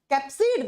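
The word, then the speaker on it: capsid: कैप्सिड बना हुआ होता है बच्चा, कैप्सिड, नॉट कैस्पिड।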